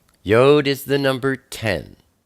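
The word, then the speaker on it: י: Next, we have Yod. Yod is the number 10. It's pronounced Y, like Yahweh or Yah. Or sometimes it's pronounced like E, like easy.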